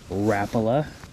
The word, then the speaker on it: Rapala: perch colored Rapa and that is the correct way to say it Rapa I know L Zera but in the words of the people that own Rapa they say it's actually Rapa but as long as